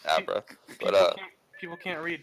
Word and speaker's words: Abra: legit, you are not the first person to say Arbra. Like, what the Arbra? I meant Abra.